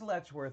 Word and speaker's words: Letchworth: an angle there that it is it is letchworth you were right and i've been saying it